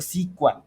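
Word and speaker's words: SQL: It helps to store, retrieve, update, delete data in the structure way pronounced as इफ क्यू ऐप। सीक्वल सीक्वल।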